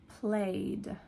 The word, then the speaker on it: played: So at the end, it's more like a d or a t, a very soft sound at the end. It does not sound like ed.